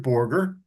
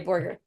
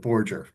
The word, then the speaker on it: Borger: Actually, I pronounce it Borger. Oh, sorry, Borger. That's all right. The New York portion of the family pronounces it Borger.